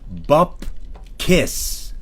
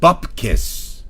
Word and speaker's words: Bupkis: lesson starring me buus buiss pronounced bup kiss bup kiss say it with me bup kiss you're not loud enough